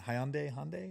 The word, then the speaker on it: Hyundai: And Hyundai, is that how you say it?